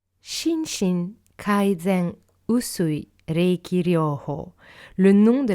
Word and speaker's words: Usui: Usui et pas Uzui. Ça, c'est quelque chose que je retrouve souvent. Et le pense-bête, en fait, c'est de penser au sushi. Vous dites pas « je vais manger des sushis », même si c'est S-U. Et donc, c'est la même chose pour Usui Sensei, Usui. Donc, Usui.